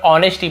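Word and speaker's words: honesty: would cutters या लकड़हारे की ऑनेस्टी S silent होता है केवल ऑनेस्टी पढ़ेंगे ईमानदारी से सो ही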